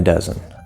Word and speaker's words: dozen: dozen dozen dozen mmm well we know we have two syllables so one syllable is going to be stressed but which one is it dozen or is it doesn't be here right duh is it dozen dozen basic sounds and connections uh we just have a schwa sound uh we just have